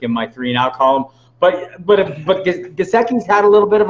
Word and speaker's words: Gesicki: Who has a bigger game, Higbee or Jessic for Miami, if I'm pronouncing it right? Oh, Gesicki. Gesicki.